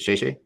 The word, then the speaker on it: 谢谢: Is it "谢谢"? Yeah, that's right. You got it right. How do you pronounce it?